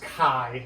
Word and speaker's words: chi: It is pronounced chi, like it's K. You know, it looks like chai.